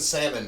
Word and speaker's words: salmon: on it though yeah there's L and salmon too that you don't pronounce yeah you don't pronounce it I love salad yeah